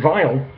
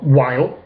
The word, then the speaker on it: Weil: why that is the brand in question is Raymond vial or while however you want to pronounce it about so I tend to go for the V pronunciation of the w um ringer vial I